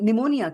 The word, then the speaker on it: pneumonia: Like for example in the school when we were learning English and the word pneumonia came there it starts with the P and the teacher said P is silent and we said okay